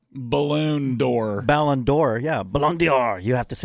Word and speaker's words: Ballon d'Or: He's also now a strong consideration for the Ballon d'Or.